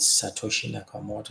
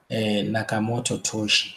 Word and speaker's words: Satoshi Nakamoto: No, I've heard that the creator is Satoshi Nakamoto. Sometimes they can't even pronounce it right. They say Nakamoto Toshi, something like that.